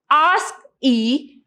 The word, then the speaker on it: ASCII: having ascii representation so the ascii code that is pronounced as ask e is of two types